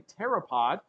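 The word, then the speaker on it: pteropod: so this is actually called a terapod spelled with a p PT uh e r o p o d and that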